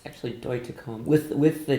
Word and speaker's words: Deutekom: come close because I used to say Christina do to come it's actually boy to comb with with the T pronounced right what would you like to hear